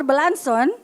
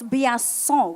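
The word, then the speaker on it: Biasion: It's not Blanson. I can tell you that. It's Biasson, oui?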